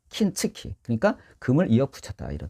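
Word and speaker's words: 金継ぎ: 여러분, 우리가 금을 일본은 킨으로 발음해요. 킨츠키.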